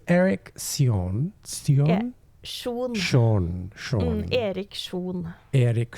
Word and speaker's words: Erik Sjon: Or if they're able to like replicate it, because like the Norwegian pronunciation would be Erik Sjon.